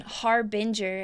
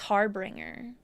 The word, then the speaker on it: Harbinger: whole time they've been Harbinger and I added an extra I thought it was hardbringer like the whole time